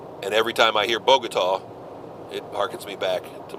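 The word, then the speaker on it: Bogotá: early ' 80s he couldn't say the word bogat Columbia it was always Bogata he could not pronounce the word bogat to save his life I'm dealing with a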